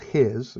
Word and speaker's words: His: of hiss it's spelled his so you can see it over here his right but it's pronounced hiss like a sound a snake would make and the bundle of